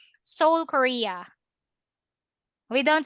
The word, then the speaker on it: Seoul: Uh, Silent. We don't pronounce the E. Silent E. Seoul, Korea.